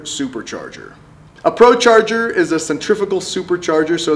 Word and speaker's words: centrifugal: is a centrifugal supercharger I've had videos before where I said centrifugal I apologize it has a g in there and a centrifuge is